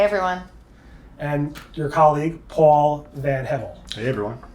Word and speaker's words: VanHevel: lily ray hey everyone and your colleague paul van hevel hey everyone pronouncing that correctly right yes sir great and